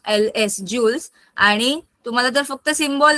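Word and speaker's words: joules: कशामध्ये स मध्ये मोजतात वर्क मेजर इन ज स्पेलिंग आहे जे य एल एस जे ओ यू एल एस जुल्स आणि तुम्हाला जर फक्त सिम्बॉल लिहायचा असेल तर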